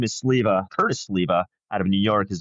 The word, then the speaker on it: Sliwa: Curtis Sliwa out of New York is the guy who started the Guardian Angels. My name is spelled the same way. He pronounces it Sliwa, but I've always pronounced it Sliwa.